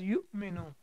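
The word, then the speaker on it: يُؤْمِنُ: Because whenever Hamza is sakin, we have to pronounce it with a small twitch or with a small jerk. So it becomes yu'minu, the rule of the tajweed.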